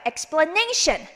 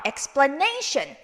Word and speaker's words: explanation: 얘는요, tion, 으로 끝나는 단어는 어디다 액센트 하나 전에다가 액센트 주시면 됩니다. explanation, dedication, relation 이렇게 액센트 주시면 됩니다. 한번 읽어볼게요. explanation. 한 번 더. explanation.